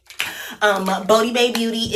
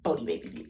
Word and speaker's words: Bodi Bae Beauty: I have to put the little dots back at the O on top of the O, so you know how it's said. Yeah, because it's Bodi Bae Beauty, which is the O, Bodi Bae Beauty.